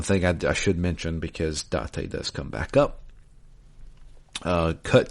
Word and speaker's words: Date: Is that how you pronounce it? Yep, Date.